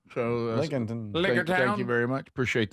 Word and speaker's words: Lincolnton: Out of how would you pronounce that? Lincolnton, North Carolina. That's what it looks Lincoln. like. So Lincolnton.